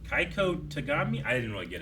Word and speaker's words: Keigo: So I just mispronounced it, but I missed the I. Keigo.